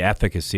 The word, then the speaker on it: efficacy: of a cool term a lot of people say will efficiency I say efficacy and it's really the proper way to saying it's lumens wah so